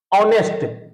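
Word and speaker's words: honest: दूसरा क्या बोलेंगे हम ऑनेस्ट इसको हम ऑनेस्ट तो पढ़ेंगे नहीं ऑनेस्ट क्योंकि इसका उच्चारण हम लोग बचपन से पढ़ने हैं ऑनेस्ट होता है ये इसमें हा हमारा साइलेंट है हा हमारा साइलेंट है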